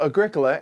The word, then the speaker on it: Agricola: of oh right yeah so Agricola emphasis on the second syllable is Latin for farming